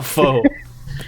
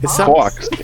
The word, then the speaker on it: faux: How does that spell faux? Well, maybe it's pronounced fox.